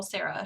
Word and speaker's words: Serra: green, I have a gray speckle Sarah, short sleeved. And then I have that's spelled SERRA.